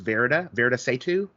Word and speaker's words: Varada Sethu: I've heard her pronounce it as Varada Sethu.